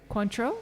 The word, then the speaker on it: Cointreau: are using cointreau nice is that the proper pronunciation cointreau yeah yes okay i'm not i'm not checking